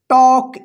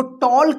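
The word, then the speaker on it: talk: पहले एल आता है तो एल जो है ना साइलेंट रहेगा उच्चारण नहीं होगा ठीक है देखिए यहां पे एग्जांपल में टी ए एल के इसको क्या पढ़ेंगे टॉक इसको टॉल्ट नहीं पढ़ेंगे क्या पढ़ेंगे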